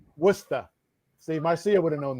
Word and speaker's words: Worcester: know what we say here in boston it's worcester oh yeah definitely not yeah i feel that one no war says everyone says warchester but it's worcester see marcia would have known that yeah oh